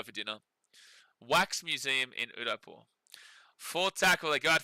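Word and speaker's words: Udaipur: If you guys want to Google it, we are going to visit a place called the Wax Museum in Udapore, and that's spelled U D A I P U R.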